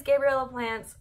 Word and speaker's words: Gabriella's Plants: So my number one favorite plant shop to buy from is 100% Gabriella's Plants, which I have been pronouncing incorrectly this entire time, but it is Gabriella Plants.